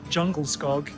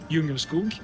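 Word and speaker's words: Djungelskog: And of course, we can't come into IKEA without finding the iconic jungle skog, whereas it's actually pronounced Jungerskog.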